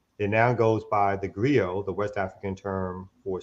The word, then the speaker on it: griot: But that spelling is not, griot is GRIOT, not GRIO. So he already stepping in the game on some bullshit. You know what I mean? So it's like griot, but it's pronounced griot.